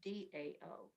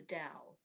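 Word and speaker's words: Tao: our hearts kathy it the word is t-a-o but it's pronounced d-a-o is the dao like d-o-w dao that's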